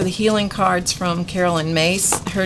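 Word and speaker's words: Myss: so those are the healing cards from Carolyn mace her name is spelled m SS but it is pronounced mace okay so this this is another set of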